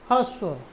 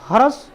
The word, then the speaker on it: ह्रस्व: ह्रस्व नहीं ह्रस्व। देखो ह में र लगा है। तो ह्रस्व हर बोलेंगे।